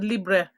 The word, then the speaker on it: Libre: the damn thing and they said it's pronounced as Libre so I've been pronouncing as Libra but then I've got